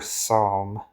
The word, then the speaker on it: psalm: Uh, what's another word for a psalm? It's got a silent P, but clearly none of the others have got enough silent letters to form a group.